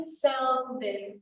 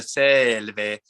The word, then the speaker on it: selve: Care selve, hombre beate. Yes, and make sure on the selve that this first syllable gets more love. Selve.